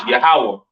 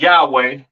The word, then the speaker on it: Yahawah: and so on right so the lord's name is yahawah not y yahwa or or not Yahweh all right yahawah to